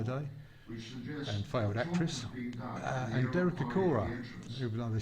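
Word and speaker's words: Derek Acorah: and failed actress and Derek Aora, even though they spelled his name wrong. It's uh a C O R A H. So, they put the H in the wrong place here.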